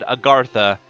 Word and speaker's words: Agartha: At least once in the playthrough, I said Agartha the way it's supposed to be pronounced.